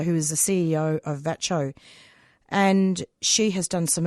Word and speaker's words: VACCHO: response that you're talking about, because I know VACCHO that's how you pronounce it, isn't it?